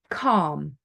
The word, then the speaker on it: calm: knack for it then L is silent when it is before another L um d f m or k so for example before an M calm bom okay salmon okay when it's before an